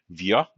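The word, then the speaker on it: wir: Via. And again, that R at the end of the word is going to be more like a uh, right?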